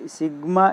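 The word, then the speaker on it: sigma: है कि यहाँ पे सिग्मा is letter A Greek alphabet, it is pronounced as सिग्मा। देखो मैंने बताया था इसको सिग्मा बोला जाता है, यानी ये चिन्ह होता है, इसको क्या बोलते हैं सिग्मा, है सिग्मा।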